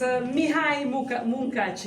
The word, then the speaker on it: Mihály Munkácsy: In fact, thus the traditional paintings of Mihály Munkácsy, I don't know if my pronunciation is right. It's Mihály Munkácsy.